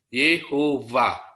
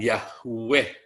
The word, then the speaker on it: Yehuwa: di bawah Tiki uap Yehuwa itu yang bener cara membacanya bukan Yahweh bukan jahweh ini berasal dari terjemah